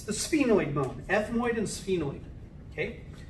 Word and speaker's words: sphenoid: the sphenoid it's spelled like this but it's pronounced like spe noid okay it's the sphenoid bone ethmoid and sphenoid okay so now if